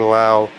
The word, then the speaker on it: Lowe: Brandon Lau, same last name spelling as teammate first baseman Nate Lowe, but they pronounce it differently.